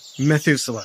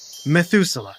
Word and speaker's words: Methuselah: What's a I can't even pronounce it. Methuselah. Say it with me. You listening as well. On the count of 3. 1, 2, 3. Methuselah.